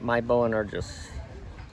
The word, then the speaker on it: My Boangernes: you could pronounce his name for us i pronounce it correctly my bow and are just and what does that mean yes what does